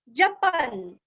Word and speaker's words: जपन्: जपन, आधा न, मुच्यते, मूरस्व, मुच्यते, जपन मुच्यते, जपन मुच्यते।